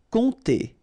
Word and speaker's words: compter: Compter. Remember, you don't pronounce the P here, and then this OM together will produce the nasal on, compter, compter.